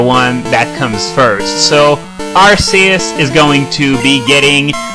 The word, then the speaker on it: Arceus: It's clearly, it was spelled Arceus with an S in the Japanese spelling, and now you're trying to tell me that it's pronounced with a hard C?